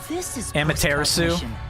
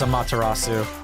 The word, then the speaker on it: Amaterasu: Launches on Nintendo switch Yeah I'm saying it wrong on purpose I know it's a matarasu so we're we're wrapping